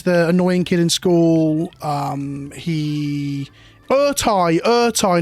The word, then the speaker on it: Ertai: Ertai, not Eratai, Ertai. There we go. Yes, it is Urtai.